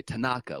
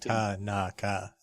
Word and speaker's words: Tanaka: We want to say Tanaka, we want to sort of put a little oomph on one of the syllables. But there is no oomph. So it should be like Tanaka, basically. Just Tanaka. It just goes straight. Each syllable gets this same treatment.